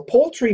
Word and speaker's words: poultry: the L poultry poultry so it's like p-o-l-e like a fishing pole and then a tree poultry poultry poultry and